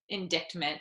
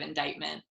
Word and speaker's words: indictment: lot of my years i said indictment instead of indictment for sure i didn't realize that the c is like not pronounced well i'll tell a